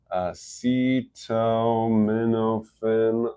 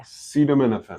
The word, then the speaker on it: acetaminophen: Acetaminophen. I know I said it right. It's A-M-I-N. Yeah. Acetaminophen.